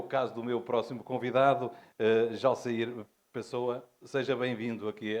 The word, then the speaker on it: Jalceyr Pessoa: Portanto, eu falo exatamente de Jalsair Pessoa, conforme há pouco me dizia, portanto, Jalsair Pessoa, assim se pronuncia, portanto, com o sotaque brasileiro, mas apenas um à parte.